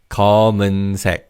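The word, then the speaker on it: 검은: So the first color is black and this is common. Here the second syllable begins with an in. So the patchim in the first syllable the mium carries over and it's pronounced as common.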